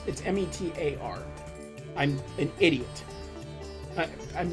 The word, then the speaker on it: METAR: Or pardon me, I said it wrong. It's METAR.